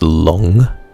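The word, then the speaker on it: 龙: Because it's pronounced long. So it's pretty... I guess if you were to phonetically sound out the way it's said in Chinese, it becomes long when you spell it.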